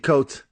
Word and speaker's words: Coates: If you want to write a novel about Ta-Nehisi Coates, if you want to write Ta-Nehisi Coates style, I'll tell you how to do it right now.